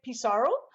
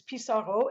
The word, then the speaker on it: Pissarro: And in English, we would say Pissarro, but in French, it's Pissarro, and I prefer that pronunciation.